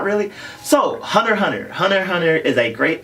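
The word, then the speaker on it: Hunter × Hunter: are saying it correctly it's hunter hunter not hunter x hunter all the x's are esthetic markers in the title it is not X pronounce that X this way X personal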